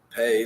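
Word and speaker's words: פ: The pay sounds like a P.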